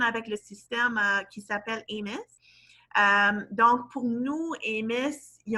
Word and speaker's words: AMIS: C'est AMIS. Comme ami.